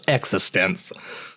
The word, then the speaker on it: eXistenZ: um so ex ex so it's existence right exist existential not like existence yeah I guess it's kind of both but they definitely pronounce it existence now I I do